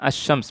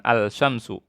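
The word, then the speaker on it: الشمس: Coba kita baca huruf asy-syams, bacanya asy-syams, bukan al-syamsu. Tapi asy-syams, ada tasdidnya, Nah, kalau di qamariyah dibaca alnya.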